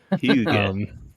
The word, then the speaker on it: hygge: Like the Hygge is basically just like it's like coziness turned up to 11. Hygge. Yeah, it's spelled Hygge, and it's not a word that we have in America.